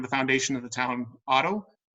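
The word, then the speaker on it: Haro: foundation of the town Otto, not Hotto, not the H. H is silent, it's Otto.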